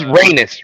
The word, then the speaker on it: Rhaenys: Oh, she's Rhaenys.